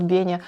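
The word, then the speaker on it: Беня: And in the last video, when I introduced you to him, I somehow pronounced him like that. And many people understood that his name is Venya. In fact , his name is Benya.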